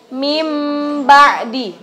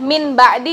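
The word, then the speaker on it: مِنْ بَعْدِ: Jadi bacanya mim ba'di. Mim ba'di, bukan min ba'di kan? Tapi kita rubah dengan huruf mim. Dengan huruf mim disertai gunnah.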